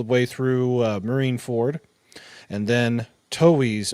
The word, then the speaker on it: Toei: And then Toei's, or is it Toei or Toei? I've always pronounced Toei. I always say Oh, Toei. it's Toei. It's Toei.